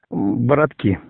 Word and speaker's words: Бородки: Он находится в деревне, правильно говорить, Бородки или Бородки? Бородки.